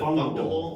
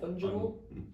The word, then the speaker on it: fungible: I don't even know how It's to like pronounce it for real. Fungus, but ibble. Ah, okay. Fungible. Fungible? Well, no, not fungible. Fungible. Fungible. Weird.